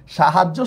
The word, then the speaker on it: সাহায্য: সাহায্য শব্দের উচ্চারণটা হচ্ছে আমাদের এই যে এইভাবে, তালব্যস্য আকার, হ আকার, জয় হসন্ত, জয় ওকার।